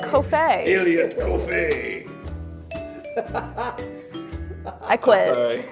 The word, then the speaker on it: Coffey: That's how it's pronounced. I know several people whose last names are Coffey. It's not Coffey. It's just Coffey.